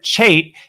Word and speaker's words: Chait: But I'm joined by Chait, and I'm going to remember that forever because you're Aussie and you said it rhymes with mate.